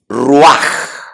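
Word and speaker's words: רוח: Y aquí la palabra aliento de vida es ruaj.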